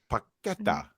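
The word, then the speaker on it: Paquetá: Paqueta.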